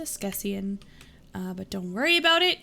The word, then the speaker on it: askesienne: If you're asking, it's pronounced Skessian.